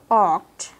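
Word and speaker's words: walk: মূল ভার্ব যেমন আই অক্ট এটাকে আমরা অনেকে ওয়াল্ক উচ্চারণ করি এরকম হবে না অক উচ্চারণ হয় অক আই আচ্ছা অক্ট ফাস্ট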